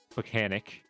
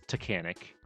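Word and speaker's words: Taconic: That's not Pucanic. It's Tacanic. The T, not a P.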